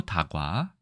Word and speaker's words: 다과: 차방 아니고 다방 그다음에 차과 아니고 다과 홍차 하지만 홍 다가